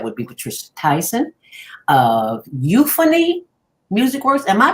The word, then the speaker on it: Euphony: today, and that would be Patricia Tyson of Euphony Music Works. Am I pronouncing that right? Euphony?